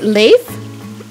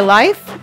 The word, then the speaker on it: Leif: Norwegian pronunciation is Leif. Yeah, I have a cousin. Okay. Yeah, that's what I'm thinking too. Leif. And then it's like some people say life. Leif Erikson is often said Leif.